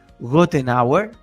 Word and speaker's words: Goettenauer: ¿Quién es Daniel Gothenauer? Y si es que lo pronuncié mal, tú me corriges. Presidente del Instituto Plural y director de Tropos Amazonía. Boris, sua pronúncia está perfeita. Tá? Em espanhol está perfeita.